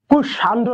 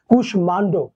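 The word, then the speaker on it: কুষ্মাণ্ড: এটার উচ্চারণ বজায় থাকবে তাই কুশমান্ড কুশান্ড না কিন্তু কুশমান্ড দেখো এটা কিন্তু কাশ্মীর না এটা হচ্ছে কাশ্মীর ম ফলার উচ্চারণ বজায় থাকবে তাহলে আশা করি ম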